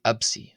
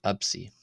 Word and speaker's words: ⲉⲯⲓ: So it's just another way to write the letter K in the old barric pronunciation system K. Then we have the letter absi. Absy.